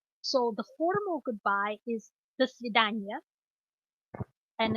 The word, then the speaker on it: до свидания: So the formal goodbye is до свидания, and it's до свидания.